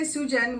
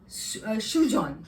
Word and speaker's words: Sujan: a tendency to say Sujan which is he always corrects me and says no the Bengali pronunciation is Shujan so I am I